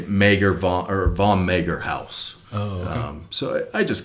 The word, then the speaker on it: Haus: Rogue house okay yeah so you pronounce it house yeah h-a-u-s yeah I